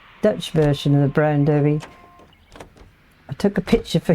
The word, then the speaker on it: Derby: You say Derby, but I say Derby because it is spelt Derby.